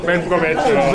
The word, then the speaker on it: buen provecho: Buen? Provecho. Buen provecho.